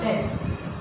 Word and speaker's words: debt: जैसे DEBT, टी से पहले क्या आ रहा है बी, तो हम इस बी को यहाँ पे नहीं पढ़ेंगे, क्या पढ़ेंगे इसको डेट।